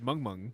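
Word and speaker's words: 멍멍: Pronounced Mung Mung, said similar to Rung.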